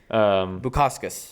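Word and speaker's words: Bukauskas: How you pronounce it? Bukaskas.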